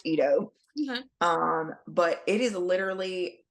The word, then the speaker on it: Ido: now it looks like it says Idol like Ideo but it's it's pronounced Ito um but it is literally a a a